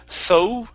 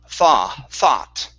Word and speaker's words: thought: your th is good now your vowel sound instead of tho thought it's ah thought a cloud yeah so no ooh sound there so only an